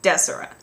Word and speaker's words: Desora: Like, it should be pronounced Desora, like a hard des, like decibel, and then aura, as in like an aura, like that's how it should be pronounced.